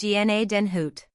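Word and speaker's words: Gnadenhütten: 103 pronounced GNA Denhoot.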